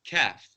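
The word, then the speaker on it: ك: Now we said that the kaf is the light, pronounced from the back of the mouth, lightly, kaf.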